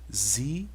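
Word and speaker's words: βασιλεία: equivalência o b o Beta é b Alfa a Sigma s o iota e lambda som de L O Eta som de eta som de e o alfa som já então isso aqui a pronúncia vai ficar bazileia Basileia eu encontro nós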